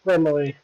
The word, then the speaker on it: Gremory: Is it Gremory? Is that how you pronounce it? Yes, it's pronounced Gremily.